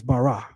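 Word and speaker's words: ברא: The way to say create in Hebrew is barah.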